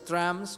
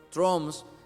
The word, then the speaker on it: Trump: dice es trans y se escribe trump cuando hablamos del presidente de eeuu donald trump se escribe algunos lo pronuncias trump otros troms hermano viene de trampa